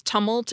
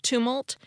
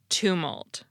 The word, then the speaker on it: tumult: word for noisy I'm not sure why I mispronounced it as tumult instead of tumult except that I'm not sure I've ever heard